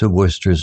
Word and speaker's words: Worcester: Villagers found it peculiar how s worcester's name was pronounced Worcester similar words odd unusual